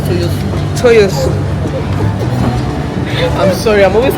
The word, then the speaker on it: Toyosu: He said it's not pronounced like that, but it's Toyosu.